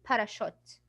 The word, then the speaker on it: parachute: Because it's very hard to say ch in here. So when they want to pronounce it as American people and as native speakers, they will say it as sh. It will give you the sh sound.